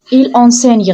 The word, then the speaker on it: enseigne: On ne dit pas en mais on prononce le gn comme un n. Écoutez bien, il enseigne.